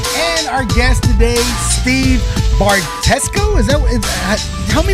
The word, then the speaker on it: Bartetzko: So Bartetzko. Bartetzko. Oh, it's so close. That's not You sound like a middle linebacker for like the Chicago Bears or something. Hey, I like that idea. like 55, Bartetzko.